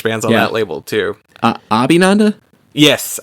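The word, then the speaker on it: Abhinanda: Abinanda? Yes, Abinanda.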